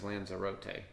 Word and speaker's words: Lanzarote: I'm going to go with lanote or my preferred pronunciation I think is lanera uh that's what the announcer was calling it was lanzera but we're pretty sure it's Lanzarote Lanza rot uh in the Canary Islands